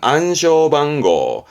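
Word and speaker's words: 暗証番号: 일본어에서는 발음은 안쇼방고가 됩니다.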